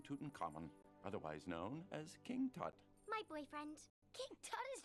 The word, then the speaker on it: Tut: Well, for one, his name rhymes with butt. I don't care. I'm gonna have a big, fat Egyptian wedding. Spoiler alert, King Tut dies young.